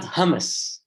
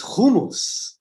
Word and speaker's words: hummus: For the love of God, it's not hummus, it's hummus.